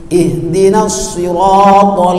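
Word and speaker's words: اهدنا: nasta ihdin mustaqim ih Ih bukan eh ih bukan Ha eh ih bukan lain Ih sini Ihan ha bukan ha Ih ih ihdin salah yang betul ih ha ihdiniratal mustaqim salah kalau bacakan salah ih ih sebab itu H yang dimaksudkan di sini tebal H ada di ini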